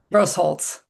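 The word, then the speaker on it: Grosholz: Ted and I didn't find out how to pronounce his last name. Gussell Gross Holtz.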